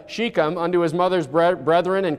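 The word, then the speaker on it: Shechem: sheikham unto his mother's i'm going to change the way i pronounced it to match brother ryan's pronunciation so i don't confuse anybody so we're going to call it uh chicam unto his mother's brethren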